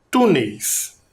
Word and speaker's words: túneis: Outra palavra, túneis. Vamos separar também em 2 sílabas.